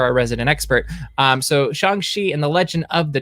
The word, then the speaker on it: Shang-Chi: good because you're our resident expert um so shangshi and the legend of the ten rings did